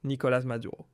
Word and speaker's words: Nicolas Maduro: Nicolas Maduro, on le prononcera en français Nicolas Maduro durant toutes nos émissions.